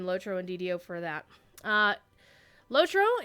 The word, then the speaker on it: LOTRO: and DDO for that lotro is you may also hear it referred to it was lot TRO generally the European cruise but pronounce it that way or such as our